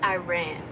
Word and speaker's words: Iran: It's pronounced Iran.